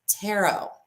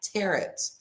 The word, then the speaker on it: tarot: It's tarot, not tarot. It doesn't rhyme with carrots.